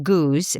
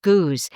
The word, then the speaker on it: Goudge: Her name is Elizabeth Guj. in Britain actually her name is pronounced goose but we British and